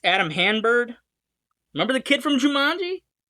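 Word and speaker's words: Hann-Byrd: I believe his last name is pronounced Hanbird. It's Adam Hanbird.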